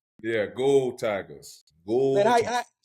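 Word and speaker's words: Geaux: they say that right I know it's spelled GE Au X but they say gold right yeah gold Tigers gold how you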